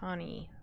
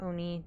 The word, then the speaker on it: Oni: Let's see if we have freezing and see if we have an ani or an oni depending on how you want to pronounce it.